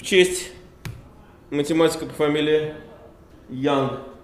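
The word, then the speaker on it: Young: честь математика по фамилии Ян. Почему-то его на русский обычно всегда транскрибируют как Юнг. Но, в общем, ну это здесь, но он англичанин, поэтому произносится он, конечно, как Ян.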